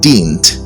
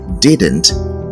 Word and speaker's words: didn't: word d-i-d-n apostrophe T this word is not pronounced dint rather you say didn't it should come in two syllables so you should not